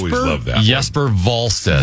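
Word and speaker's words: Jesper Wallstedt: Is it Yesper Walstead or is it Jesper Volstead? And you said what is it? It's Yes. Yesper Volstead.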